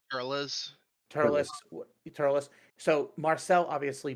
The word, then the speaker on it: Turles: That's how it's pronounced. Turles.